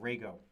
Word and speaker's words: Rego: vs code extension for Rago Rago is how you say for Rago here okay so I